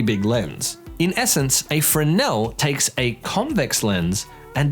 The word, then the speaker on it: Fresnel: it fresnel lenses the fresnel lens pronounced fresnel not fresnel was invented by French